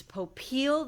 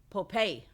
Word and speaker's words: Popeil: lot of people that it's popeel that it's stressed on the second syllable and that it's